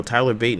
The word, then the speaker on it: Tyler Bate: He said Tyler Bat is how you say his name. Tyler Bat. They said it on TV on SmackDown. Not SmackDown. Whatever that's not Bate. All NXT, I was hearing Tyler Bate. Yeah, they said Tyler Bat. I'm like, I thought it was Bate. That was Bat.